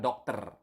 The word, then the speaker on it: dokter: You need to pronounce the R. Okay, so dokter, not doctor or something like that, but dokter.